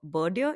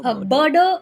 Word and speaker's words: birder: to but yeah, so you're also a bird watcher, birdier, is that the right way to say it? Birdier. Birder is something that's commonly used.